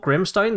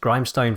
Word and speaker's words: Grimstone: slate now this was previously called grimstone that i wrongly pronounced grimestone for an entire video like an absolute idiot the natural form of